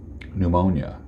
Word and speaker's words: pneumonia: L where did that come from how about pneumonia there's a letter in the air that you're not pronouncing about the word Colonel as in military